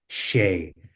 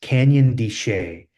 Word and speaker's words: Canyon de Chelly: This is actually called Canyon It's spelled c h e l l y, but they were pronouncing it Shay. So it's pronounced Canyon de Chelly.